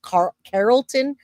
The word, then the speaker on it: Carrollton: I live in Georgia and you pronounced it correctly. Well, thank you. It's Carlton Georgia.